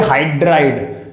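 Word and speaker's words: hydrido: जब आप आईयूपीएससी करोगे तो आपको ये ऐसे ही प्रोनाउंस करना है, हाइड्राइड नहीं हाइड्राइडो, क्लोराइड नहीं क्लोराइडो, कार्बोनेट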